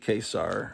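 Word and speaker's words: Ka-Zar: one of those things Kazar versus kesar they say kesar and know but I've always pronounced a Kazar whatever okay what is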